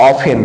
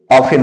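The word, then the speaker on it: often: इसी तरह से टी ई एन आया तो टी नहीं बोला जाएगा, ओ एफ ई एन, ऑफेन। क्या बोलेंगे? ऑफेन बोलेंगे।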